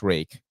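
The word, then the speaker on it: Ruike: you can still buy rake knives it is pronounced rake uh r-u-i-k-e with 14c 28n for like magic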